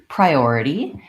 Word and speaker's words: priority: and take a look in the word priority we have a second syllable stress so we always like